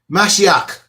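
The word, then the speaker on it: משיח: The Black Hawk was born listen to my pronunciation. Mashiach is the Hebrew word for Messiah.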